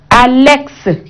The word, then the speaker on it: Alex: Mais dans d'autres, hein, on dit la consonne muette peut se prononcer dans des mots et non comme index, Alex, Félix, hein, latex. Et là, on écoute notre consonne X à la fin de ces mots.